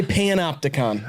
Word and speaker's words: panopticon: college basketball you're going to want to say panopticon that's how that's pronounced panopticon I've never heard of what is